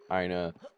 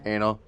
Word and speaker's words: Ina: Also, I do find it funny that Ina is like the only character in all of the internet where you can like pronounce her name however you want, and it's technically lore accurate. Ina, Anna, Una, Naya.